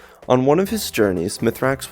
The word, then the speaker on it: Mithrax: one of his journeys mithrax would tell them that his name was originally pronounced mizrax and like many of the current houses who adopted new names upon coming to Seoul he adopted a human pronunciation form later on he would